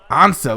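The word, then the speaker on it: Ansah: It is Ansa, like the Ansa.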